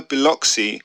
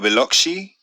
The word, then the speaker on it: Biloxi: i think we've got i don't have to pronounce this x's always throw me so is either biloxi or biloxi i mean my success rate with these things